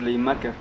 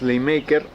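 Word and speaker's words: Schleiermacher: nos conteste esa duda cómo se pronuncia es ley market está la convocatoria por favor en la caja de comentarios y nos puedan éste es decir la pronunciación correcta bueno es ley maker tenía decía que la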